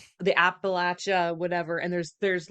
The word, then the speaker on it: Appalachia: But isn't like Appalachia, that's how you say it, not Appalachia, Appalachia.